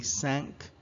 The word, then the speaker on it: cinq: Last time we pronounced it as cinq, it's actually cinq. Cinq. It's like thank, but instead you say cinq with an S sound instead of a TH sound. So if you want to pronounce it correctly, pronounce the word thank first, as in thank you. And then replace the TH sound with the S sound, making it sink.